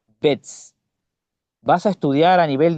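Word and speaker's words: Betz: Estas son, literalmente hablando y escucha como lo digo, las neuronas motoras piramidales gigantes de Bets. Se escriben con B larga y con Z. Bets.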